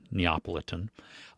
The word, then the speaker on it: Neapolitan: Um, and that is the way to pronounce it, Neopolitan.